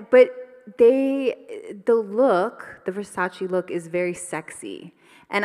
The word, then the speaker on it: Versace: wanted to work with i'm going to say versace that's how i pronounce it but if you're cooler than me you probably say versace but i really wanted